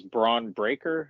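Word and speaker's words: Bron Breakker: steiner's nephew nephew okay and his name is braun breaker is that how you pronounce it yes okay so he's he's the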